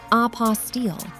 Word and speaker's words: apostille: It is pronounced apostille, and it is the ultimate bureaucratic hurdle you never knew existed.